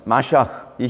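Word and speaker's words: מָשִׁיחַ: 그 유대인들은 그리스도 또는 메시아 마샤크이 히브리어의 정확한 발음은 마샤크거든요.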